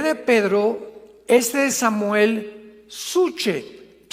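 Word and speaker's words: ψυχή: de Pedro, de Samuel, psuche, que en el hebreo se pronuncia suje, porque la CH se pronuncia en hebreo como J.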